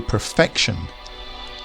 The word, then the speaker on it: perfection: of the word but we change that to perfection the emphasis moves to the middle perfect perfection we have